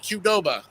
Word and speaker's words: Qdoba: Okay, Bogart, how about Qdoba?